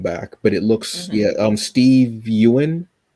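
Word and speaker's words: Yeun: Steve Wynn, I think is how you say his name. Oh, is it Wynn? Yeah. Yeah. From No, The sorry, Walking Dead. Yoon. I think it's Ewan? Yoon. It is, yeah.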